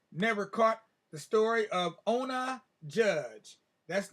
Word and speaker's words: Ona: we have here, Never Caught, the story of Ona Judge. That's not Ona Judge, that's Ona. That's her name. She's known as Ona, or some people call her Oni.